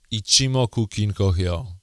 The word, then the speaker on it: Ichimoku Kinko Hyo: This is the video on Ichimoku Kinko Hyo, so-called Ichimoku Clouds. At the beginning, let's get the pronunciation right.